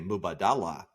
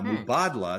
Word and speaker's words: Mubadala: Until you like hear somebody real say it, everybody wants to say Mubadala. Yeah, exactly. I feel like such an insider being like, it's actually Mubadala.